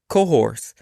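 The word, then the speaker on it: Cahors: where it's really popular it's in cohor and that's spelled c a h o r s and it's known as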